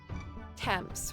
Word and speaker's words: temps: You don't pronounce it the last two letters. It's confus. Oh, so it is temp. So it's temp.